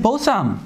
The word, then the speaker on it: 보쌈: What is 보쌈? 아들 자식아. Oh, it's, you know, it's steamed pork eaten inside of a lettuce wrap. But you can just call it 보쌈. That's easier. It's two syllables, right?